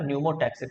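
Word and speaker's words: pneumotaxic: PC अभी लिख दे रहा हूँ, P साइलेंट होता है ना, न्यूमोटैक्सिक सेंटर पॉन्स रीजन में।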